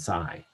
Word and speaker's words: psi: to each other and phonetically psi and c sound similar and then the other